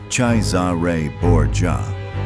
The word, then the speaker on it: Cesare Borgia: He studied Cesare Borgia, pronounced Chai-za-ray Bor-jah, carefully and what he admired most was not Cesare's cruelty.